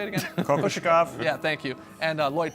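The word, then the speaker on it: Kokoškov: Kokoshikov?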